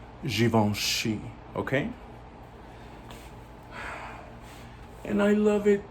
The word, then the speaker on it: Givenchy: givenchy and um or some people say givenchy the ones that don't know how to pronounce it but it's given she okay and i love